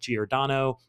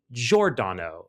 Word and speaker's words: Giordano: And they very kindly corrected us and said it should be pronounced Dick Giordano, not Giordano.